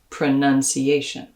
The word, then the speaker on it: pronunciation: diphthong like in mouth in the noun pronunciation that second syllable becomes an uh like in stuff pronunciation probably probably this is